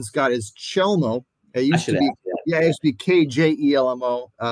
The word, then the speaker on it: Chelmo: So again, the actual pronunciation, Scott, is Chelmo.